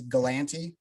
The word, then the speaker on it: Galante: always say like my the way you pronounce my last name uh is galante everybody and it's happened my whole life and i just i